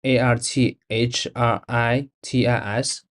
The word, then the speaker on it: arthritis: of smell again two the word AR Artis is pronounced arthritis so the sentence would